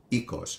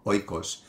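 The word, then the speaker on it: οίκος: teach is the word for home which is ecos or Oikos for those of you that study ancient Greek through the erasmine pronunciation although modern Greeks also use the word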